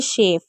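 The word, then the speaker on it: chef: जहां पर हम श पढ़ते हैं वो है शेफ।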